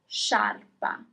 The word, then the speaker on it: sciarpa: And finally, scarf is sciarpa. Sciarpa. Okay, you pronounce all the letters.